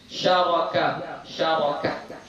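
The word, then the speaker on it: شَرَكَ: Syaraki, syaraka. Bi fathi syini war ra'i, dengan memfathahkan shin dan ra.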